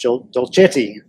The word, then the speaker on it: Dolcetti: of LILA Movementechnology, Dolcetti. Am I pronouncing that right? Yes. If you're Italian, you're pronouncing it right.